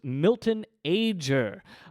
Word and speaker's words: Milton Ager: somebody whose name I mispronounced it is indeed pronounced Milton ager my friends bill Huffman and Ethan Uslan were